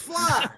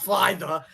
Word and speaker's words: Flythe: The TH is silent. No, it's Fly. It's just Fly, not Fly the. That's the first one I've heard that. It's usually Flythe. People call it Flythe, but the THE is silent.